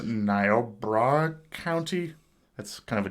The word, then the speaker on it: Niobrara: There was this broadcast interruption out in this, I think it's pronounced Niobrara County.